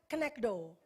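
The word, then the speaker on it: כנגדו: katakan ezer ya lalu kata sepadan bahasa aslinya adalah conectdo bacanya knectdo ya dari kata dasarnya Neget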